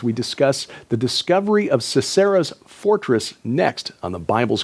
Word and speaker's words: Sisera: Oh, yes, Sisera, who was the leader of the army of the Canaanite king of Hazor.